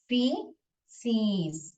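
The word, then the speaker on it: faeces: उसको क्या बोलते हैं, फीसिस, कैसे प्रोनाउंस करते हैं, फीसिस, ऐसे प्रोनाउंस करते हैं।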